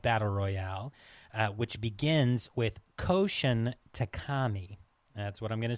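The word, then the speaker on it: Koushun Takami: the source of Battle Royale, which begins with Koshin Takami. That's what I'm going to say his name is. That was perfect, actually. Wonderful. So, Koshin Takami, a little history of him.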